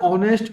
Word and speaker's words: honest: राजा इज, अब देखिए यहां क्या होना चाहिए, ऐसे तो HONEST लिखा हुआ है ऑनेस्ट, लेकिन इसका प्रोनाउंसिएशन ऑनेस्ट कहा जाता है, इसलिए राजा इज एन ऑनेस्ट बॉय।